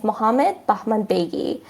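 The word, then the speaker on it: Mohammadi: back home in Iran the name with the Persian pronunciation is muhammadi so if I want to say it in the English pronunciation is muhammadi so this person was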